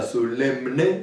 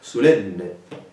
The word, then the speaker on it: solemne: Et comme vous savez, quand deux consonantes se seguissent, la seconde est redoublée et peut dire que c'è pour la première. Donc, vous pas prononcer solemne, à cause pas possible, mais solenne.